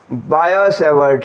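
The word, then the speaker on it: Biot–Savart: उसके बाद बड़ा इंपॉर्टेंट है एक लॉ, बायो-सेवर्ट लॉ, ठीक है। बायो मैथ नहीं है एक्चुअली, बायोट, लेकिन प्रोनाउंस किया जाता है बायो-सेवर्ट लॉ, ठीक है।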